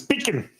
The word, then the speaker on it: pecan: It is pronounced salmon. Salmon. Is it pecan or pecan? It's pecan.